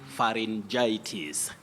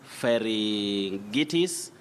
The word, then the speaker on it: pharyngitis: matter of trying so we say pharyngitis not fairing itís not Ferengi T's and all that remember also say laryngitis